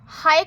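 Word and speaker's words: ح: হায়ে কোনো নোক্তা হয় না, তো আমরা এখানে কোনো নোক্তা দেব না। তাহলে এটা হলো হা, হা, হা। গলা থেকে একটি স স উচ্চারণ হবে হা, জিম, হা, জিম, হা।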